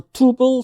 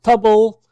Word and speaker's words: tuple: some people pronounce a tuple some people pronounce a double rancid anyway you want it doesn't really make a difference as long as you